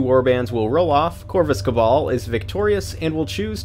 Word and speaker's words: Cabal: Also, on a side note, for those of you in North America, we pronounce it Corvus Cabal, not Cabal, like you folks over the pond.